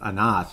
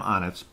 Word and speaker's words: Anas: Dmitry Sokolov has really, really picked it up of late, along with Sam Onas, who is correctly pronounced. I keep going back and forth with Anas. No, it's Sam Onas.